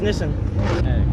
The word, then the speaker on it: Nissan: Nissan right yeah I do it's 280 yeah we've all been saying Nissan wrong it's pronounced innocent yes it is Nissan is pronounced Nissen bro I'm kind of diggin the retro Z